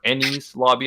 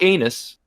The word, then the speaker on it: Enies Lobby: a new arc the Ennis Lobby arc or any lobby our color you wanna pronounce I don't know whatever it's not anus I've heard that it's